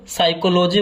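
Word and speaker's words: psychology: मनोविज्ञान को इंग्लिश में साइकोलॉजी बोलते हैं पी से स्टार्ट होता है पी जो है यहां पर साइलेंट होता है मनोविज्ञान को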